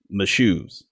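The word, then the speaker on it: Mashoes: man's Harbor oh wow my shoes it's spelled in like I just spelled it of course you just got to think my shoes those are my shoes shoes yeah yeah naturally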